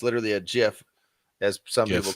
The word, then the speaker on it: GIF: I actually like the job that Inman did on the header because they use a GIF, which is the proper way to say GIF. It's not GIF.